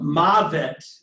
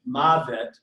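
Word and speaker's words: מות: But in the history of the language, since the W, the vavs began to be pronounced as a V, it doesn't sound like a diphthong anymore.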